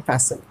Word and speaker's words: fasten: मतलब होता है टू टाई और अटाई, मतलब किसी चीज़ को बांधने को बोलते हैं फैशन।